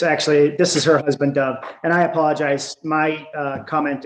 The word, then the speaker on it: Dov: It's Dove. It's spelled D-O-V, just like the bird, but without the E.